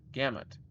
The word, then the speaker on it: gamut: It's pronounced like g uh gam and mut. Like mut gamut.